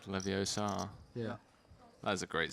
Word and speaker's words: Leviosa: It's not Leviosa, it's Leviosa.